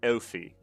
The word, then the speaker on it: Elfi: Yeah, it's not pronounced Wifey. It's Elfi. It's like you kind of say it like you would say elf because elf is the German word for 11. And Elfi is Swiss German.